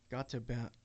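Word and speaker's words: Gotemba: scenes that were filmed in the mountains of got to B. I can't come out. It's spelled G O T E M B A.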